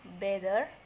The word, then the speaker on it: better: say that in listen the double t in better is pronounced d better any other pronunciation will